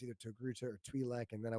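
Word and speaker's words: Togruta: Togaruto.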